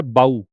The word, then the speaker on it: bow: अगला है बाऊ, इसका प्रोनाउंसिएशन BOW बाऊ होता है।